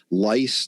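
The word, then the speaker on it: lyse: and liquefy cells or get them to lice that's spelled l-y-s-e and that means self-destruct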